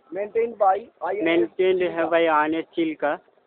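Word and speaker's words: ଚିଲିକା: কালিজাই island maintain by maintained by INS Chilka. Not Chilka, আমরা চিল্কা কথাটা ভুল বলি। এর চিলিকা। আদি শব্দের উচ্চারণ হচ্ছে চিলিকা।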